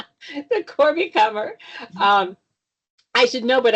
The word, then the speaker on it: Kummer: Depends on which side of the family I say comer. The Corby comer.